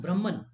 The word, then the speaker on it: Brahman: it is not Brahman it is it is pronounced Brahman Brahman okay this is Brahman Brahman is actually